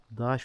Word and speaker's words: taş: Daş fırın da var. Bizim Kastamunda T'ler D diye okunur. Mesela bizim taş köprü taş köprü deriz biz.